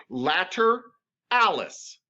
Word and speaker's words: lateralis: lateralis yeah it's hard it's latter alice beautiful okay so vastus later alice yes you're doing great